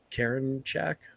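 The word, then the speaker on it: Karinchak: it's it's class a it's karen shack is that how you pronounce it yeah yeah yeah so uh i it's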